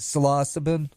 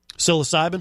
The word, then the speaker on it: psilocybin: it's inevitable so loss so you're gonna always mispronounce it selasa Ben psilocybin psilocybin yeah that one there's of dyslexia that